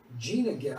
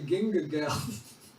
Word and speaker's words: Gina Gal: Gina Gal. I was going to say Ginga Gal.